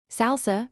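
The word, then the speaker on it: SLSA: SALSA, pronounced SALSA, stands for Supply Chain Levels for Software Artifacts.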